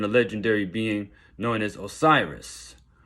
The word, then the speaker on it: Osiris: The ancient Kemites, also known as the Egyptians, they believed in a legendary being known as Osiris. The African pronunciation of that is Wosir.